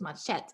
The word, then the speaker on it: machete: is called machete it's spelled like machete but it's machete and it's that it